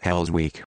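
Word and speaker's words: Hellsvik: Minister of Justice named gun hell's Vic pronounced hell's week not the coolest name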